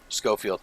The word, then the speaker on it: Schofield: Schofield. Yeah, that's what it is. There you go. Yep. Schofield. Schofield. I think that is Yeah. Schofield.